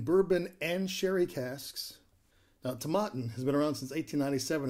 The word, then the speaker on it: Tomatin: today we are having tom atten that's not how you pronounce it it's actually tamaten to mutton tomato let's